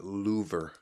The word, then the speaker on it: Louvre: It's pronounced Louvre.